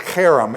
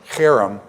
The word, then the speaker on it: herem: Herem, it's pronounced Herem. It's a hard H, okay? It's a Herem. Herem.